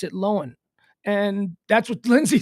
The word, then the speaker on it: Lohan: would probably pronounce it lowen and that's what lindsay says my last name is lowen it's not it's not lohan that's just it's an irish spelling it's an irish pronunciation it's lowen lindsay lohn